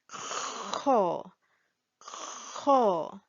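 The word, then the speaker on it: خ: Letter kho, the articulation point is located just above the articulation point for ha. It is here in the top throat here. And when we want to pronounce kho, we will need to have a little bit of saliva in the mouth so that we can make the sound.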